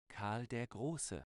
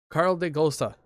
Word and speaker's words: Karl der Große: Speaking of, we have Karl de Grove. I think that's how you say it. Here's my friend saying it real quick. Karl der Große. Karl de Gosa.